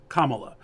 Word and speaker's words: Kamala: but she says it Kamala so we should say it the way she says it it's her name absolutely absolutely I completely